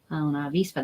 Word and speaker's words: vista: to be a waspa una Vista these guys are mean unavista sounds like a b in espanol a soft B so it kind of has a tiny bit of softness to it but it's not